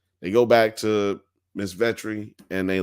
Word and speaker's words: Vetri: But yeah, man, like, Victoria Veretti. I mean, Veteri, Vetri. I was saying it right early.